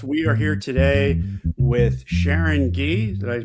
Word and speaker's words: Sharon Gee: We are here today with Sharon Gee. Did I pronounce that correctly?